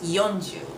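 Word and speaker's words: 四十: footnote for the 40 I know I said four is usually she but since du is following the number four we often use yonu instead so uh let's say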